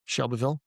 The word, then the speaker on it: Shelbyville: Shelbyville, properly pronounced.